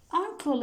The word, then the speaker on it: uncle: I have got uncle in London. Uncle. It begins with a sound, which is vowel. It's a vowel sound. Uncle. Not. It is not pronounced like you. It's a.